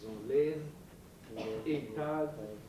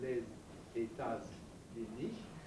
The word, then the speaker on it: Les États-Unis: Les États-Unis, but one doesn't pronounce it as les États-Unis. No, it's les États-Unis.